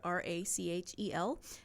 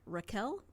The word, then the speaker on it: Rachel: to Bach she says there's no CH sound in their language and so her name is actually pronounced Raquel I was like oh